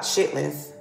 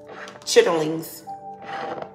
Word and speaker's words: chitterlings: chilling it's something significant about chitlins chitterlings that's how you say it chitterlings or that's